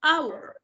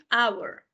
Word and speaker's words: hour: An hour. An hour. Porque aunque tiene escrita una H, esa H es silenciosa, es muda, como nosotros le decimos.